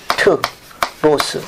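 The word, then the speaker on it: Πέτρος: 페트로스. 그냥 발음 교식을 읽으면 돼요.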